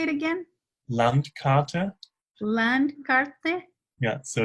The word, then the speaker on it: Landkarte: Landkarte.